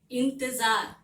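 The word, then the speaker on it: इंतज़ार: इंतजार, इसका उच्चारण कैसा होगा? जार, क्योंकि यहाँ पे नुक्ता है। अभी हम लोग पढ़े हैं ना फर्स्ट सेमेस्टर में नुक्ता के बारे में, तो ये जो डॉट है इसे हम लोग नुक्ता कहते हैं, जो ज के नीचे लगा हुआ है, इसके कारण इसका उच्चारण हो गया ज। ठीक है, इंतजार।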